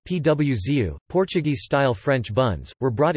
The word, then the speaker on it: pãozinho: producer of these nuts, and pauzinho, pronounced PWZU, Portuguese-style French buns, were brought in by the Portuguese.